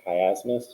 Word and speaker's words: chiasmus: had been elected um i just realized i pronounced the strong it's actually pronounced chiasmus uh transposing words crossing